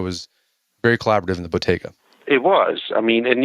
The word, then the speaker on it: bottega: Bottega, is that how you pronounce it? Bottega, yes.